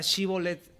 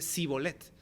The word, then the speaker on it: shibboleth: con otra región, que no podían pronunciar la palabra shibboleth así, con el CH, sino que ellos decían simplemente Sibolet.